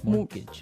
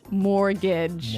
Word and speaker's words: mortgage: with a t yeah it has a t in it but you don't pronounce it you say mortgage morgage so not Mor mortgage not mortgage morgage mortgage yeah I had